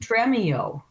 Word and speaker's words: Stremio: I Solving think it's pronounced Stremio.